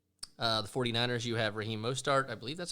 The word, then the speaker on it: Mostert: The 49ers, you have Raheem Mostert. I believe that's how you pronounce it. Yep. Mostert.